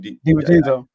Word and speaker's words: DiVincenzo: DiVincenzo.